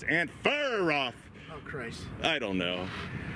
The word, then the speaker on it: Anferov: excuse me someone said we we said his name wrong or something it's ant far off oh christ i don't know we're americans you